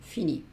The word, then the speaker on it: finit: Acuérdate que estas s, s y t no la pronuncio. Sigo diciendo fini, fini, fini.